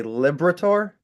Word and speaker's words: Liberatore: I want to say Liberator. Yes, I got it right. You did. Yeah. My grandparents pronounced it Liberator, but then when they moved here from Italy, it's Liberator.